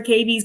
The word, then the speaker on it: cavies: Tell us a little bit about C stands for, is it pronounced cavies? Cavies, yeah.